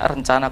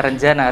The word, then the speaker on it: Renjana: Bahkan kadang-kadang orang membacanya rencana coffee gitu. Benar kan? Bukan rencana, Renjana.